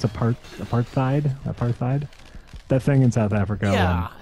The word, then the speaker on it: apartheid: No, it is apartheid. Okay. Yeah, I don't. Apparently there is a TH, but it's not pronounced TH.